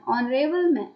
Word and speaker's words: honorable: an honest man an honorable honorable person already captain other examples i'll come after nr and it's an honor so these are examples where h is silent then article a article